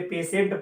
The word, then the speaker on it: patient: मैं फिर आपको रिवाइज करा रहा हूं कि टी के बाद IEIAIO आए तो उसका उच्चारण क्या होता है? बड़ा सा, इसलिए पेशेंट पढ़ेंगे। ठीक है, भले ही दिमाग में हम रखे रहे कि वो पेटिएंट लिखा गया है, लेकिन हमसे पेशेंट पढ़ेंगे।